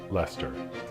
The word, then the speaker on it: Leicester: also known as the Earl of Leicester it's pronounced Leicester I know I was testing you Robert